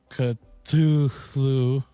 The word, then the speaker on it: Cthulhu: how you pronounce it well you can say Cthulhu or Cthulhu or cut to flu I always get that